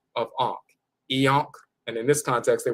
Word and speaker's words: Iankh: as an A, but they put the dot over the A. That is pronounced I. So instead of Ankh, you have I and then Ankh. I and Ankh together is IANKH, IANKH, IANKH.